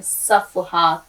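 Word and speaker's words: صفحات: सफ़हात असल में जमा है सफ़हे की, यानी पेज जिसको कहते हैं, सफ़हात। देखिए स्वाद पे ज़बर सफ़, हेल ज़बर हा, ते साकिन, सफ़हात।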